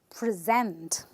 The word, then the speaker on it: present: another word which is present I'm stressing this word this syllable which is the Zent part and I say present now let me tell